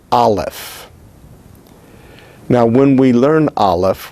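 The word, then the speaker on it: אלף: Therefore, understanding that, the letter Aleph is silent. We're not sure if the letter Aleph ever was pronounced, and if it was, what its pronunciation was.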